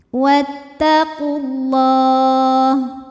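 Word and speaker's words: وَاتَّقُوا اللَّهَ: Maka alif lam kita lewat, tidak kita baca ya. Atau dengan kata lain dimasukkan atau diidghamkan. Wattaqullah.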